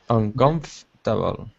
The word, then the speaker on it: uncomfortable: uncomfortable uncomfortable that's it uncomfortable so we don't say the four we take it out we say uncomfortable uncomfortable good so there's a whole group of words where we drop a syllable but that's the most